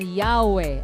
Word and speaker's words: Yahweh: While inclining to view the pronunciation Yahweh as the more correct way, we have retained the form Jehovah because of people's familiarity with it since the 14th century.